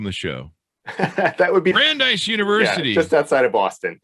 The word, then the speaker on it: Brandeis: college and grub street writers how do you pronounce that name michael and welcome the show that would be brandeis university just outside of boston i can't even